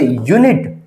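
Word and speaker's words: unit: इसी प्रकार से यूनिट। यूनिट यू हमारा वोवेल है। लेकिन साउंड जो है वो कंसोनेंट की है इसलिए हमने यूज़ किया है ए।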